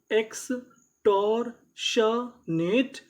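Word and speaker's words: extortionate: तो पूरी meaning x टॉर शनेट एक्सटॉरशनेट और हमें यहां पे आखिरी में इ का उच्चारण नहीं करना।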